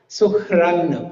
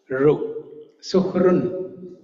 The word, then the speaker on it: suhṛn: So you do not pronounce, if there is a dot below R, you don't pronounce it like a complete syllable, Ra. You don't pronounce it like Ra. Suhran, you don't pronounce it like that. But you have to pronounce it like Ru.